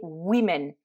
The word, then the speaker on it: women: que là vous allez voir il ya une prononciation un peu particulière donc une femme c'est roumaine et des femmes c'est women donc comme dans mad men le à se